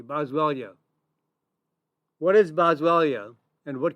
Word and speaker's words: Boswellia: Boswellia.